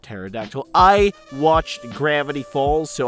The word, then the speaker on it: pterodactyl: that looks like a pair de Aerodactyl it's pronounced pterodactyl I watched Gravity Falls so I can say